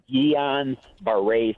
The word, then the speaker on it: Guillain-Barré: Guillain-Barré, is that how you say it? Oh, the thing I have? Yeah. GBS, it's Guillain-Barré syndrome.